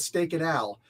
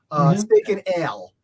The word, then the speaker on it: Steak and Ale: at a place called Steak and Al. Steak and Ale. I always pronounced it wrong when I was younger. Now it just stuck with me. So I was like, Steak and Al.